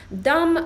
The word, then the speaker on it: dumb: Dumb, jak sobie spojrzycie na to, jak jest zapisane, jest na końcu b, ale tego nie wymawiamy, tak? Tylko mówimy dumb.